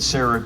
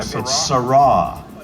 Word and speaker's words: Sera: told me a long I said Sarah too one time SRA like K SRA SRA okay gotcha I I